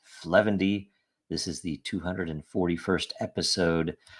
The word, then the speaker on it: 0xf0: update show this is episode 0xf0 pronounced fendy this is the 241st